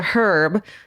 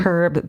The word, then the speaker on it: Herb: This city may sound familiar to you because you've covered the Herb, and it says Georgia, you pronounce the H, Baumeister murders. Yeah. Herb Baumeister.